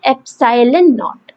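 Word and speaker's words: epsilon nought: इसे हम प्रोनाउंस कैसे करते हैं, एप्सिलॉन नॉट, एप्सिलॉन नॉट, NOUGHT वाला नॉट, एप्सिलॉन नॉट।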